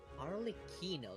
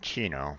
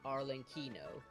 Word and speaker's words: Arlecchino: Arlecchino, that's how she pronounced her name. Okay. I was saying Chino, but Yeah, same. But when I went to her hello dialogue, she says Arlecchino.